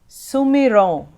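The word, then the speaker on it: सुमिरौं: Sumiron. Here is again that nasal sound when it ends with the M and has the dot on the top. The M is silent, so it's Sumiron.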